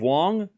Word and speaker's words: Wong: I just Googled the pronunciation of Wong. And Google says it the same way, like long.